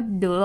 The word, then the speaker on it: modulo: ว่า ณ ที่ นี้ เรา อ่าน ว่า มด ดูโร่ นะ คะ ขอบคุณ มาก